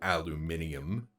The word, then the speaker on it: aluminium: The correct one is still aluminum. It was then changed to aluminium.